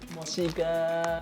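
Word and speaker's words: 墨西哥: Mochiga.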